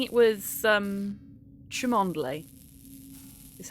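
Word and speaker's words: Cholmondeley: only oh he was saying it was um chumondly is how it's supposed to be pronounced tremondale fill it with piss and throw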